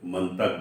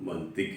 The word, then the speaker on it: منطق: ہم نے دیکھا ہے بعض احباب اسے منطق بولتے ہیں، لیکن یہ درست تلفظ اس کا منطق ہے۔ تو جو احباب ہمارے